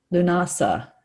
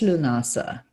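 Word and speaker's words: Lughnasadh: I did not know how to pronounce this one. Lunasa. It's just Lunasa, which is really beautiful.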